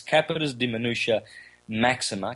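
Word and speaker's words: capitis diminutio maxima: I forgot when I said it wrong last time. It's capitis diminutia maxima, capitis diminutia media, and capitis diminutia minima, or something like that.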